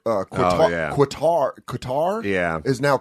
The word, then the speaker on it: Qatar: with countries like uh qatar qatar yeah is now cutter yeah some people call it cutter some people call it qatar and you're like wouldn't